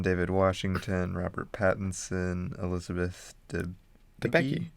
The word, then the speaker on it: Debicki: You got John David Washington, Robert Pattinson, Elizabeth Debicki. Debicki? Yeah, Debicki.